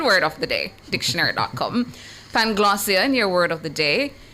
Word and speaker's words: Panglossian: Your word of the day is spelled P-A-N-G-L-O-S-S-I-A-N, spelled P-A-N-G-L-O-S-S-I-A-N.